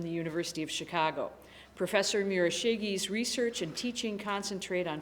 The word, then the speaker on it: Murashige: Pronounce all the vowels. Okay. Murashige.